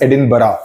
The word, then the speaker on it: Edinburgh: Edinburgh nahi bolte, it's pronounced as Edinburgh.